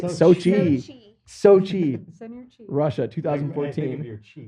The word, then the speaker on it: Sochi: Sochi.